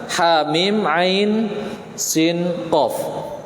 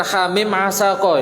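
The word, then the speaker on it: حم عسق: Yang selanjutnya yang terakhir adalah bukan hamim asaqo ya, tapi hamim ain sin qaf.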